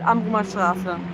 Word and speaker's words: Amrumer Straße: I always say it like with a weird accent. Amrumer Straße. It's called Amrumer Straße.